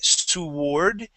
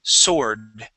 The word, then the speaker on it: sword: Okay, that W is not going to be pronounced. We don't say sword, it is sword.